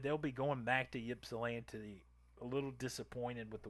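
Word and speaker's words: Ypsilanti: town being a michigander it is yps I L NTI is that yip yip yip yip salant yip salant well that is where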